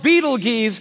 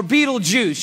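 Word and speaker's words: Betelgeuse: It's called Beetle Geese or Beetleju. You can pick your pronunciation. I'm obviously going with Beetlejuice.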